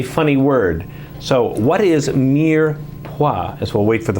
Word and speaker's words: mirepoix: what is mirepoix what is mirepoix they even pronounce it right you did you did great what is mirepoix and you can't say a funny word so what is mere pois as well wait for the phone to ring